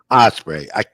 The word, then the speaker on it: Ospreay: Brian Danielson and Will Ospreay. It's another one I botched up. Just like the bird.